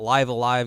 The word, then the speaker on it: Live A Live: you pronounce that game live Alive live alive okay yeah not live a live well there's so many